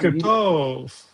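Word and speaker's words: בוקר טוב: Boker tov.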